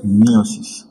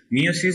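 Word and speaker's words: meiosis: মিয়োসিস। মিয়োসিস বা মায়োসিস যেটা ইচ্ছে তোমরা বলতে পারো, জাস্ট ইংলিশের যে বানানটা সেটার উপর দিয়ে আসছে।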